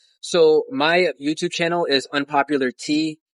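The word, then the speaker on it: Unpopular T3A: So my YouTube channel is Unpopular Tea. Tea is like, it's like, the tea that you drink is spelled T3A.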